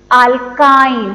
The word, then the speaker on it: alkyne: But when we pronounce alkyne, how we are pronouncing YNE as I.